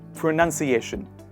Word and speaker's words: pronunciation: say pronunciation pronunciation but if you look closely in the bigger word there is none not noun and thus we write and say pra and it becomes shun asian seation nunciation renunciation and finally pronunciation this is the end